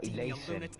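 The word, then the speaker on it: Alhaitham: Me encima se pronuncia Ileisen.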